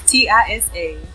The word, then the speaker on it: Tisa Lee: It's Tisalee, like Bruce Lee, but Tisa Lee, like Lisa, Tisa.